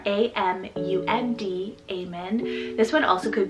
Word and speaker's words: Amund: We have Amund, spelled A-M-U-N-D, Amund.